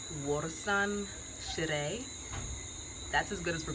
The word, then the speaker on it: Warsan Shire: I had Twitter help me with the pronunciation of the poet's name. Warsan Shire.